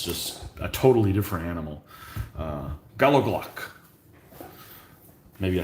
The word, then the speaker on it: gallowglass: Pronunciation is Gallowglass with a CH as in lotch or hotch. Okay, so Gallowglass. Gallowglass.